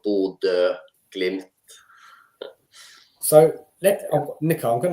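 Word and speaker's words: Bodø/Glimt: Bod, not Bodo. It ble Ba glimpse. Yeah, it's the Norwegian. Uh it's hard for foreigners to say. So B glimp.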